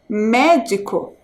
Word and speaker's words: médico: me médico e aqui qual a sílaba que vocês pintaram a sílaba mais forte médico é o mé então vocês pintaram aí